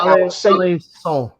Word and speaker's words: Alençon: In America, we pronounce that Alençon. When a C's got like a little accent underneath, it's like an S sound.